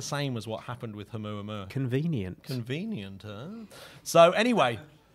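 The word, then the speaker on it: ʻOumuamua: So remember Oumuamua. Say that once again, Matt. Oumuamua. I love that you pronounce the H.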